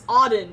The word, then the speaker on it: Auden: It's Auden, as in odd one.